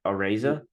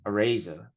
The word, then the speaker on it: Araiza: The Bills punter, you know how to pronounce his last name a little bit better than I do. Matt Araiza. Matareza. Araiza.